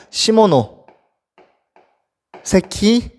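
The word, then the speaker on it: 시모노세키: 시모노 세키 조약.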